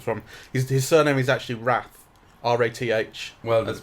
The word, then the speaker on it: Rath: His surname is actually Rath. R-A-T-H. Well, that's pronounced right.